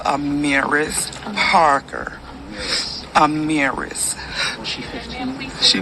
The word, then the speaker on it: Amarise: r k can you pronounce her name is pronounced amiris Parker Amir amiris she she was 15 I'm